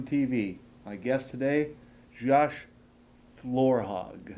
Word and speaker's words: Florhaug: my guest today Josh Laura Hogg yes yes you said it right which many people don't do thank you sir yeah